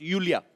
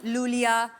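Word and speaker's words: Iulia: pronounce Yulia. Yulia. And the spellings are I-U-L-I-A. So I Thank क्यों God मतलब? you know. I mean, why I? Thank God. Everyone is calling me Lulia, but Lolia I like because it's coming from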